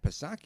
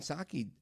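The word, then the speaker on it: Psaki: Now Jen circle back Pasaki you remember her right Silent P of course Jen Saki um didn't have to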